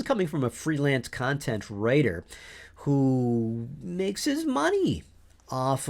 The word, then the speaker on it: Ryter: I mentioned in that episode on GPT-3 and its impact on novelists that I believe the technology will help writers, not take our careers away.